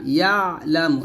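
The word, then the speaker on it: يَعْلَمُ: দিয়ে টান দিবেন, ইয়ালামু, ইয়ালা, ইয়ালা, এরকম ভাবে পড়বেন না, ইয়ালামু, এরকম।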